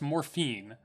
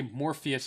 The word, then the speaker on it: Morpheus: it but it's pressed morphine it's actually Morpheus is the only way you would pronounce that but it just sounds weird to me because I'm so used